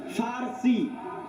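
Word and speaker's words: فرس: আরেকদিকে পারস্য পারস্য মানে ফারসি বাংলায় বলে পুর ওটাই আরবিতে আছে ফারসি ফুরস কেন আরবিতে পর কোন উচ্চারণ নাই আরবিতে পর কোন উচ্চারণ নাই সেটা আমরা পারস্য বলতেছি ওটাই আরবিতে বলে ফুরস ফার্সি যারা ফার্সি ভাষায়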